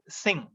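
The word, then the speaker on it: Synge: 1907 we have uh j m singh uh pronunciation is singh spelling yes y-n-g-e singh and his uh in a celebrated work the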